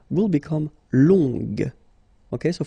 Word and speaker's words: longue: Okay, so long, remember you don't pronounce the final G, will become longue. Okay, so phonetically it's longue, longue.